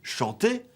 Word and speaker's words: chanter: plus d'un nom francophone on prononce d'un côté chanter et de l'autre de voir et partir il y a eu